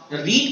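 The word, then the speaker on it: read: पर है verb रीड्स, रीड का थर्ड फॉर्म रेड, स्पेलिंग तो सेम होती है रूस पर प्रोनाउंसिएशन रेड पढ़ा जाता है, Srisht Books Red.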